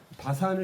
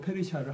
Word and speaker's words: 페르시아: 바사는 이제 한문으로 페르시아를 한문으로 말하는 거예요.